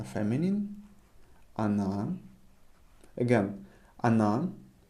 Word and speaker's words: она: Emphasize on a. That's why we pronounce it она. If you pronounced она, it's fine. People will understand you. However, try to pronounce the way I'm pronouncing it.